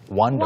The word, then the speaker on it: wander: And the pronunciation is a little bit Yeah. different. But in It's basically the same though.